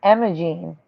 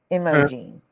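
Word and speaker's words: Imogene: He was mispronouncing Imoene. I M O G. I think it's E N E. Emoene, not Emmaene.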